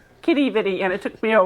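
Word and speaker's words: Quidi Vidi: We still don't know how to pronounce is it Kitty Viddy or Quidditty Vidi? Kitty Viddy.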